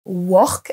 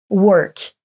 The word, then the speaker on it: work: Le premier, on l'a déjà vu, ne se prononce pas work avec un O à la française, mais bien work.